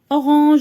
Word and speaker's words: orange: Orange, j'entends J. Orange.